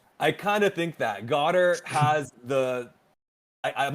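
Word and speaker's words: Goedert: I've been pronouncing it Godare. Is it not Godare? I think it's Goddard, but Godare is really fun. I think it's Goddard as well, but Godare is a good interpretation of it. Super fun. Isn't Godare like a French pronunciation? It's kind of funny that you went with like the French pronunciation.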